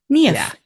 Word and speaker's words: Niamh: yeah think of your knee and say if KN if yeah KN if yeah I I was um the first time